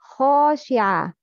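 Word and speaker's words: خاشعة: Listen and choose the correct pronunciation. Please listen to the first one. Khashi'a. The second one. Khashi'a. Which one is right? The first one. Khashi'a.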